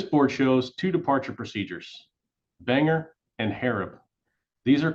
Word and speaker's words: BANGR: five letters for example the spelling of B ngr departure is pronounced Banger the stars on the